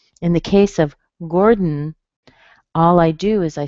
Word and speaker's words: Gordon: You notice I don't lift my tongue off. If I did, I would say Gordon, dun, dun. So that happens because I hit my tongue behind my teeth for the D. I pull it back a tiny bit, and then I hit it again to make the N.